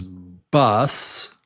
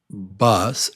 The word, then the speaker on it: bus: Uh, number one is bus. a bus. And number two is boss. A boss. A boss.